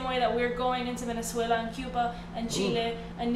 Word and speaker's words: Venezuela: You better come through with the roll your R's. Go ahead, you better roll your R's. She said Venezuela.